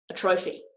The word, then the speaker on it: atrophy: A trophy. It's actually pronounced atrophy, but you know, I had to pronounce it for the joke.